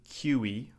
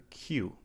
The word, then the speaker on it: queue: It's the word queue. We don't say QE or QU. We just say queue, like the letter Q.